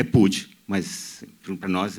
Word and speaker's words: Puig: O Daniel, dos elogios a ao Daniel, vocês repararam que ele se chama Pud, né, que é Manuel Pud, porque ele faz questão de respeitar a pronúncia catalã, que é um gesto